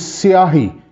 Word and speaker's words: syahi: Yes, this is the outer part, and then there is an inner part, which is siahi. Can you please play on siahi?